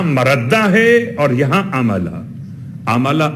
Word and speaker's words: عملا: ہے اور یہاں عملا۔ عملا عین سے نہیں ہے، الف سے، حمزہ سے ہے۔ ہو سکتا ہے میرا